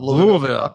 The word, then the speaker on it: Louisville: from Spectrum news in Louisville Kentucky I love Louisville I have Louisville that's right that's the proper way to pronounce it in indeed and got some friends